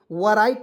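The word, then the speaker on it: write: ई तो इसे पढ़ेंगे राइट नहीं पढ़ेंगे डब्लू को इसमें साइलेंट करते हैं और आर आई टी इसको राइट पढ़ते हैं दोस्तों ठीक है ना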